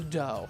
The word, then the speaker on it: Dao: They taught the Dao. Spelled "d-a-o", but it's pronounced "Dao", which means the way.